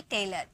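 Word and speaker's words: tailor: number 11 है okay जब किसी वर्ड के लास्ट में ओ एन या ओ आर आए तो उसे अ में प्रोनाउंस करते हैं ठीक है ओ एन आए या ओ आर आए तो वहां पर ओ को हम अ में प्रोनाउंस कर जैसे कि टेलर यहां पर देखिए लास्ट में क्या आया ओ आर आया लास्ट में ओ आर आया ना तो इसे अ में साउंड निकाला हमारा हो गया टेलर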